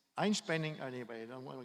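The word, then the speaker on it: Einspänner: They called it Erwin's coffee because they couldn't pronounce the name. I think it's hard for Korean to say Einspanner, So it's Einspanning, anyway, I don't want to explain what it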